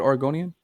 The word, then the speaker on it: Oregonian: Is that how you say it, Oregonian?